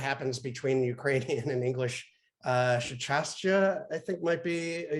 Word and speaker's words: щастя: ЩАСТЯ, I think, might be a Ukrainian. I mean, I'm sure I'm saying it wrong. No, but, that is very close. ЩАСТЯ, exactly.